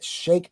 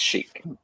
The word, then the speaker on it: Schiek: at some of the imagery from artist j shake am i pronouncing it right is it chic shake shake it's chic so how did you find the artist and